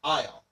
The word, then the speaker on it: isle: The pronunciation of isle is the same as the words isle and isle.